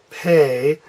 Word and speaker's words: Pe: is the same and this one is pay like I need to pay my bill okay so now we